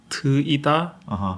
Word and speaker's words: Teuda: and everyone's like, download Teuda. Yeah, that's which how I would means- read it. Yeah, But how is it actually pronounced? Tuida.